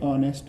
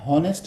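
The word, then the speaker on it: honest: For example H ओ एन ई एस टी, ऑनेस्ट मैन. यहाँ पे H silent है, हॉनेस्ट नहीं है बल्कि ऑनेस्ट मैन है, तो उससे आगे हम लगाएंगे एन.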